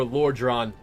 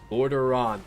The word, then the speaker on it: Lordaeron: The belt, the Forsaken Heritage armor, I wish they would have made it more Lordran specific. Yeah. I wish they would have made it more Lordran heavy. Lordaeron.